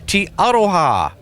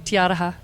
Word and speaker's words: Te Aroha: will at the 2017 T Auto ha cruising did I say that right you did pretty good pretty close you kidding me I said it right it's actually tiata ha it's a right Fletch